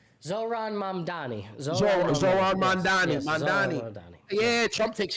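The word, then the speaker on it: Zohran Mamdani: Zoran Mamdani.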